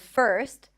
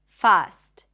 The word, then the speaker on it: first: So instead of girl, they might say something like gal. Instead of term, tam. Instead of first, fast.